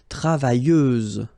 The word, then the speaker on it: travailleuse: Feminine form, travailleuse, same rule and same phonetical thing. You don't pronounce the final S, so you get travailleuse.